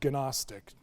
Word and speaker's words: Gnostic: That's spelled with a G, so Gnostic, anyway.